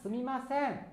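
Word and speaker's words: すみません: Cara bacanya sumimasen ya.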